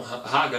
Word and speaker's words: raga: Algumas pessoas falam raga, né? A pronúncia do R em sânscrito é com ra, né?